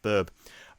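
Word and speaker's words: Böb: as uh your Chieftain BB which is spelled Bob but it's got the two little dots over it it's pronounced BB uh basically is awaiting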